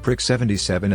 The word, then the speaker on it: PRC-77: The latter was a play on the PRC-77, pronounced Prick 77 and E7, the pay grade for a gunnery sergeant.